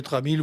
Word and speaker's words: TRAMIL: Et le TRAMIL, voilà, comme ça se prononce.